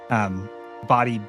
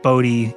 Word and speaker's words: Bodhi: Body Bodhi. Some people pronounce it Bodhi. He's told me a long time ago it's pronounced body.